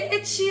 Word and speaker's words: ecchi: Isso porque ecchi vem da pronúncia de H no inglês.